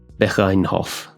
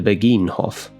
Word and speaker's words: Begijnhof: towards the Begijnhof, or perhaps it's pronounced, I'm going to attempt some Dutch here, Begijnhof. I'm not sure if that soft G sound, which you definitely hear in Netherlands Dutch, is also shared in Belgian Flemish.